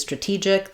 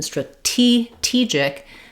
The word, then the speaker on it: strategic: our team stra-gy, or our our team is stra-TEE-gic, the tech is stra-TEE-gic. In stra-gy, of course, it's flapped, but in stra-TEE-gic, this stressed syllable acts just like a T